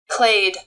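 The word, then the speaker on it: clade: see the pronunciation on this one here clay yeah so they call it clay yeah so is it clay I've been calling it clad slcl yeah basically trying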